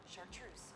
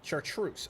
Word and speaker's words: chartreuse: Chartreuse. Chartreuse.